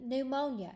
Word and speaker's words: pneumonia: is the p n so you pronounce only the n Sound when it's at the start of a word you pronounce both letters separately when it's in the middle of a word okay so for example it's at the beginning of the pneumonia so you only do the n you still spell it